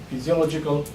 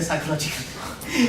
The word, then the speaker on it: physiological: This is not psychological. That's P. That's Y. This one is physiological, right? Again, syllables Y, PH, Y, P, C, O, Lo, G, K. Physiological, right? Again, why Lo would be louder? Because it ends with O. So the penultimate.